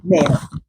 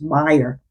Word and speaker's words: Maier: There is some photography by a photographer named Vivian Mayer. And there's such an interesting story behind this photography. I think it's actually pronounced Meyer, but it's spelled Maier.